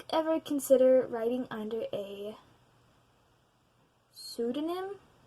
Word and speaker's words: pseudonym: Do you ever consider writing under a pseudonym? Pseudonym. I'm guessing the P is silent.